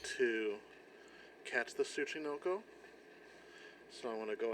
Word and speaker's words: Tsuchinoko: Tsuchinoko. They pronounce it in the game, so we'll get to that point.